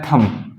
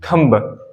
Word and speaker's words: thumb: क्या होता है, थम, इसको हम थम कहते हैं, ना कि थंब। थंब नहीं कहना है, थम कहना है, थम, इसको कहते हैं थम।